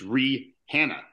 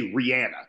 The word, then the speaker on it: Rihanna: No, it's Rihanna. No, it's not. No. Yeah. But that's how it would be like spelled syllably, but you say Rihanna. Yeah. You don't pronounce the H.